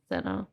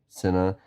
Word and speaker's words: Sena: We had Dominic Sena, which I think is how you pronounce that. It's Sena. Sena.